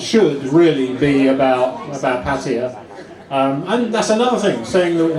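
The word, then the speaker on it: Pattaya: Um and that's another thing saying that saying you know patia because different people pronounce it differently. They call it paya or paya. And um yeah, I get criticized in comments for saying patia.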